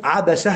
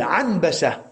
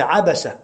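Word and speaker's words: عبسة: Amr ibn Abasa, c'est avec Abasa, c'est avec 3 fatha. Abasa. Abasa. Des savants ont dit, certains ont prononcé Anbasa, et ils ont dit ça c'est khata'un fahish, abadan. C'est pas Anbasa, c'est Abasa.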